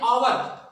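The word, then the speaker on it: hour: वहीं पे हम देखते हैं आवर, आवर में यहाँ पे एच क्या है, ये साइलेंट है, ये एच साइलेंट है, कॉन्सोनेंट है, लेकिन साउंड जो इसकी निकल रही है वो आवर पे निकल रही है, आ की आवाज आ रही है, इससे पहले आ आया।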